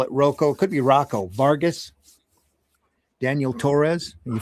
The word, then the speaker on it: Rocco: Oh, I would say that's I would I would say Rocco. Yeah, Rocco. All right, it'll be Rocco then. I always pronounced it Roco because of the double C, but then I ran